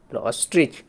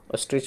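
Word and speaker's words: ostrich: পেলাম তারপরে ই তারপরে চ পেলাম তাহলে অস্ট্রইচ অস্ট্রিচ অস্ট্রিচ মানে হল উট পাখি দেখ এখানে একটা উট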